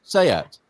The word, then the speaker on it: SEAT: S-E-A-T, but it is pronounced Seat.